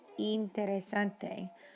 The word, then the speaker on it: interesante: Remember, the letter I in Spanish is E. So importante, interesante.